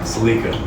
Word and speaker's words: Celica: So yeah, how would you pronounce the name of this car? Celica. Celica. Yeah. Okay, sweet. Yeah, because there's a lot of, some people say Celica.